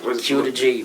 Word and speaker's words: Qdagee: But just like how you say prodigy, Q to G. Q to G. I don't know if that sound Q to G. Q. I'd rather say Q to G.